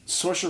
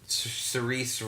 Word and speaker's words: Saoirse: Rampling, who got her foot caught in her mouth a few weeks ago for 45 years, and Saoirse Ronan for Brooklyn.